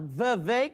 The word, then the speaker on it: Vivek: Yeah, maybe No, it is Vivek because I heard him do a rap and he said it rhymes with cake.